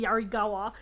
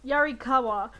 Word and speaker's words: Yarikawa: god and so it's pretending yarikawa i didn't want to say it wrong i was going to say yarigawa um yarikawa so they they're maybe